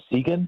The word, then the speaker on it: Seguin: So we spent about 36 hours in an RV park in Seguin. Is that how you pronounce it? Yeah. Seguin, Texas? Seguin, yeah.